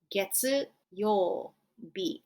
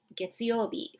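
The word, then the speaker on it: 月曜日: Getsuyobi, Getsuyobi for Monday.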